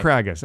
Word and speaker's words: Craigus: Craigus rhymes with haggis.